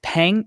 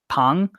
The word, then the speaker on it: Peng: But Peng, so her name is spelled Peng, but I think it's pronounced like Pang.